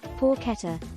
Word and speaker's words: porchetta: Italian pronunciation, porchetta, is a savory, fatty, and moist boneless pork roast of Italian culinary tradition.